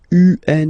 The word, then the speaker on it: un: Okay, remember, UN is pronounced like un, lundi, lundi, lundi.